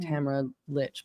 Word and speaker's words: Tamara Lich: I keep saying Tamara Lich, but that's wrong.